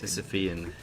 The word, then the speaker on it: Sisyphean: Sisyphean.